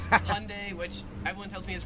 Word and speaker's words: Hyundai: in america it pronounces hyundai which everyone tells me is wrong it probably is and as i said in in the korean language uh the h is actually silent so it's yundai that's the one that's